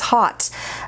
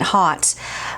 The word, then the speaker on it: Haute: have been spelled differently au to me is an ah sound you know but then